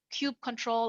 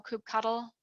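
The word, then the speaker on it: kubectl: a command line tool called um Cube control or cube cuddle however you you pronounce it and um to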